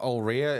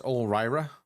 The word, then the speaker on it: Ulrira: But his name's not Ulria, it's Ulrira. It's Ulrira.